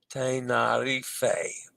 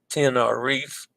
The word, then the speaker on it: Tenerife: Tenerife has accepted pronunciations Tenerife from Spanish, and the anglicized Tenerife Zanzarote is properly pronounced Zanzarote.